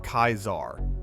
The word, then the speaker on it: Caesar: And the fact that he pronounces Caesar as Kaizar in the classical Latin way is a detail pulled